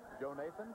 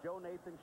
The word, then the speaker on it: Jonathan: you like that name Joe Nathan it's it's spelled Jonathan but his name is Joe Nathan Shelley and he is